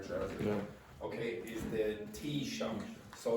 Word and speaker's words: Taoiseach: Okay, is the Taoiseach. So, like, think about cup of tea and shock. Okay, that's the pronunciation of that. So the Taoiseach stated that.